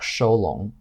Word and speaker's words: Shulong: This implies that in Chinese this would be pronounced like Sholong.